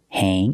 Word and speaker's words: hang: So the word hang, A-N-G, has the long A. Hang, it's not hang, it's hang.